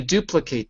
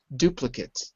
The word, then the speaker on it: duplicate: The reason I'm saying that is because if you change it to a verb, it's duplicate. I'm going to duplicate this. To duplicate. If it's a noun, it's duplicate.